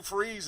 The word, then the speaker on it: Fries: So check your local listings for the Sue Freeze Show. It's spelled like fries, F-R-I-E-S.